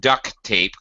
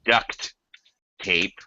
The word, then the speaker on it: duct tape: and by the way it is not duck tape quack quack it is duct tape but every American you ever hear will say it it will sound like Duck quack quack duck tape